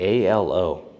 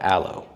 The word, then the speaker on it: ALO: It's actually ALO, separate letters, not Aloe.